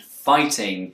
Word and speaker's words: fighting: The words water, authority, and fighting have a T in the middle. Brits will tend to pronounce a T sound here, t, but Americans will use a tap. This may sound like a short D sound, or even an R sound if you're a non-native speaker of English.